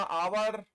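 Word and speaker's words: hour: हमने लिखा आवर हमने लिखा ईर हमने लिखा ऑनरेरी इन सब में एच साइलेंट है ऑनेस्ट ऑनर ये ओ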